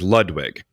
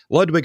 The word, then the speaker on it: Ludwig: caveat in there of we're talking about the American pronunciation of a lot of these. I do have a few we'll get to later, premier, but I'm talking about usually how it's pronounced in America, where if you're in Germany or something and you're going Ludwig, good on you.